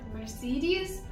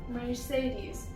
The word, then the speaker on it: Mercedes: Let's start with Mercedes, my favorite car brand. Mercedes. Now, it's not Mercedes, it's Mercedes. Neither is it Mercedes.